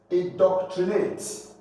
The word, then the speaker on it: indoctrinate: Indoctrinate. For the first one, you have the first syllable stressed, that's IN.